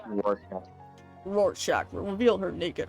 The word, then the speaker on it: Rorschach: Rorschach will reveal her... Rorschach. It's pronounced Rorschach.